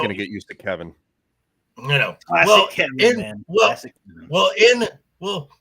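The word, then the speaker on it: Kevan: we to be fair his name in the book is spelled with an a not an i yeah it's k-e-v-a-n so technically it should be kavan but yeah you could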